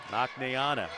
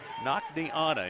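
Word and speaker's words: Naknianna: Nakneana, interesting name. N-A-K-N-I, Nakni. Anna, A-N-N-A. Only a freshman.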